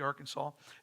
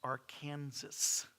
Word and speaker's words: Arkansas: I know y'all call it the Arkansas.